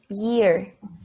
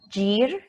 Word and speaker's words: year: the pronunciation we say year there yes the Y is soft ye year not jeer like jente no that doesn't exist in English is soft year with